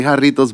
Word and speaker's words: Jarritos: And he was like, yeah, what do you I was like, just say Jarritos, but you got to make sure you roll your R's. And it has to sound clear.